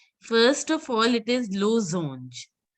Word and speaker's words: losange: First of all, it is losange. Since there is a single S, it has to be pronounced as Z.